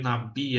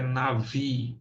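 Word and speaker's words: נביא: aí que é Navi algum às vezes vai ver Nabi aí mas a pronúncia correta é Navi tá o Navi é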